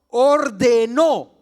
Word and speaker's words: ordenó: dice Cómo es ordenó porque tiene acento en la o ordenó el señor a quienes